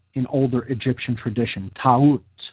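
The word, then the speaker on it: Taurt: Ta'ut, T-A-U-R-T, Ta'ut.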